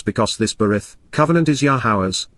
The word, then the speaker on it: Yahowah: of your name, Shemota, your reputation and renown, Yahowah, Yahowah, the proper pronunciation of Yahovah, our Eloah, God as directed